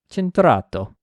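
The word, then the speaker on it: Cinturato: Uh the Centur Evo, Cintato, I think that's how you say it. You have to say it with an Italian accent, I believe.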